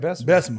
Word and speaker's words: Bessemer: You said it right, Bessemer. Bessemer, yeah.